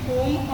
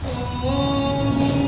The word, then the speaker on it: ओम: chatting के साथ करेंगे ओम आ ओम तीन अक्षरों से मिलकर बना है तीनों को 1:1 के रेशियो में प्रोनाउंस करेंगे जब हम आ बोलते